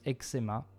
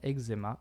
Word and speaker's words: eczema: We'll replace CZ with X in eczema, since the pronunciations eczema and eczema are both in use.